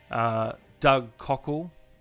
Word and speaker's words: Doug Cockle: I've been talking to Doug Cockle.